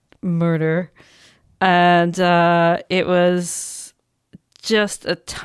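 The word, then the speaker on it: Murter: It's with a J, but they pronounce it Murder.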